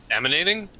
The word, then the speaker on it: emanating: Emanating? Yeah, it's E-M-A-N. E-M-A-N-A-T-I-N-G. It's weird because the way we pronounce it sounds like it's an I.